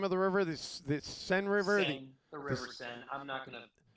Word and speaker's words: Seine: The Seine River. Seine, the River This, Seine. I'm not going to be one of these pedantic. You have to emphasize something. It looks like the River Seine to me.